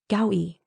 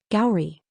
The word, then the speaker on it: Gowrie: "Gowie," Juan said as he opened the door to the medical bay. "We stay in space a little longer." "Gowrie," she pronounced her name slowly, emphasizing every sound.